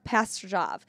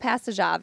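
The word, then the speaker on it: Pastujov: pronunciation chibrakov and sasha pastor job so it's sasha passajav he's actually a michigan man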